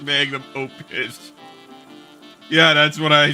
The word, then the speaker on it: magnum opus: I'm working on my magnesium opus. I think it's pronounced magnum opus.